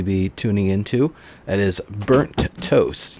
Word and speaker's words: BurntToasTJ: That is Burnt Toast. Now, there's a J on the end. The J is silent.